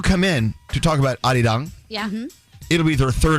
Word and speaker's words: Arirang: It's Say Arirang. It's Arirang. Arirang. Okay. I don't want to mess it up, so I don't want to say it wrong. What's scary? Sorry. I thought it was Ari Rang.